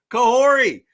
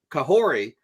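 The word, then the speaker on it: Kahhori: her way into Comics I do believe it's pronounced kah kahori uh so yeah that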